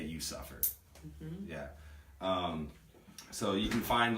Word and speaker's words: VCVFFIR: Yeah, no, it's spelled VCVFFIR, but you say it, You Suffer.